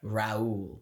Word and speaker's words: Raul: right I'm going to pronounce him how I think it is pronounced okay Raul yes let's go bro I for a second I was like is this ra or like or like Rule n ra fun fact let's